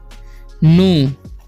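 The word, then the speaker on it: knew: का हो जाएगा तो हाउ डिड ही नो के साइलेंट है ठीक है दिस अगर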